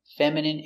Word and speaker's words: feminine: Words ending in i can have different pronunciations. All of these have the sound in. Imagine, examine, engine, discipline, feminine, and masculine.